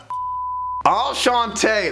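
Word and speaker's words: Enchanté: one on board called all shantae that's how you say it think of lumiere when you say it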